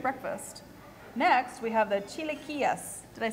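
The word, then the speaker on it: chilaquiles: Next we have the Chileas.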